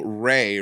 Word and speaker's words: Raye: you, bitch, It's just Ray, like R-E, how do you spell it?